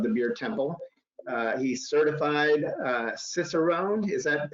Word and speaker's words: Cicerone: He's certified Cicerone. Is that pronounced correctly?